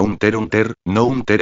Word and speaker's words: Hunter: Se pronuncia un ter. Ununter, no un ter x unter.